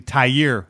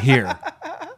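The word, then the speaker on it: Tahir: to remind you that it's actually tie year Whitehead not here so when you call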